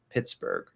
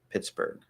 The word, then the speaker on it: Pittsburgh: it's a little frustrating there's no h there's just a g so it's pittsburgh pittsburgh h is just spelling